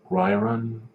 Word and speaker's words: Ryron: The fact that Helio was so small and weak at 5'8", 138 pounds, according to Ryron, R-Y-R-O-N. And yes, I'm very well aware of how the Brazilians pronounce R's as H's.